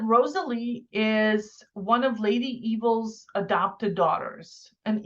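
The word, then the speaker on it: Eville: is one of lady evil's adopted daughters and evil is spelled e-v-i-l-l-e so it's like fancy-ish evil so um so she's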